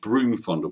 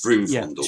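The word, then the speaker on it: Vroomfondel: I often get confused and end up saying Broom Fondle, but you're right, it's Vroom Fondle It's Broom and Magic Fondle, Thighs.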